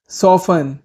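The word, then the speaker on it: soften: करना या मुलायम होना, सॉफन, सॉफन, सॉफन में टी साइलेंट होता है, समारोह मनाना, सेलिब्रेट, सेलिब्रेट,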